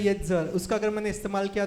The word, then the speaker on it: Yetzer: तो मैं इसकी स्पेलिंग बताता हूँ. Y-E-T-Z-E-R, येत्ज़र.